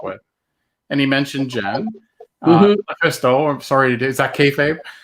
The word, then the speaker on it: LuFisto: All right, and Lufisto, am I pronouncing that correctly? Is it? Yes. Lufisto?